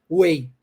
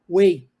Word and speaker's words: weigh: gente escreve w RGH Way mas a pronúncia Olha só não se pronuncia o GH Way é assim que a